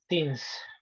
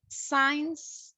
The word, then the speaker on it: since: Since. Since, pretty good. Sometimes we say signs, but remember, since, that's the correct one.